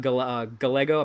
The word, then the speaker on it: Gallego: for it, and it's Gallego. So that's how I do know I do know that the L is pronounced more with a Y.